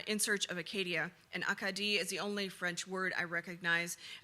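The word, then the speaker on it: Acadie: Say it in French. Akadi. I repeat the unfamiliar pronunciation. Akadi, putting the emphasis in different places than the English Acadia I'd been using.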